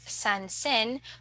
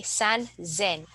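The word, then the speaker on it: 三千: we have 3,000 so instead of sansen we say San Zen and then for 6,000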